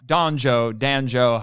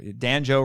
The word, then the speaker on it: Danjo: So we were on the subject of Danjo, however, it sounds like banjo. Danjo rhymes with banjo.